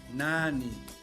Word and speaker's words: nani: este lugar nani camino escuchen bien la o la primera sílaba en donde la vocal a es larga nani camino zuma pelo bonito